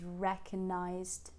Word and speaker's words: recognize: recognized right very neutral the word recognize so we have the next stress syllable wreck there right and it's got the same egg vowel that we discussed in the first line after saying R try to push the tongue forward a bit not leaving it back